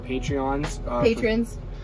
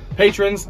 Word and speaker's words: patron: And we want to give a huge thank you to our Patreons. Patrons. I learned that I've been saying it wrong this whole time.